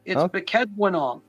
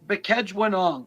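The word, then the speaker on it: Bkejwanong: So it's Bekejwanong. So it's it's tough to pronounce. Bekejwanong.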